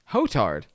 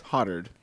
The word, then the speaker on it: Hotard: make your own assumptions h o t a r d hoetard right it's hottered yeah i know that